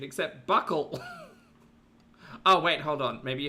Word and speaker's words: buccal: In English, it's said as buckle, How to pronounce Buccal.